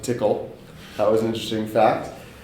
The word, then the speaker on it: Tcl: the TCL scripting language I found out that you can pronounce it tickle that was an interesting